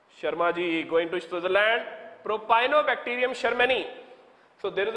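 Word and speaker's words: Propionibacterium shermanii: to pronounce the name Propionibacterium sharmani. Just remember, Sharma you have heard about, okay, Propionibacterium, it's a bacterium, Propionibacterium sharmani, okay, which is going to make Swiss cheese.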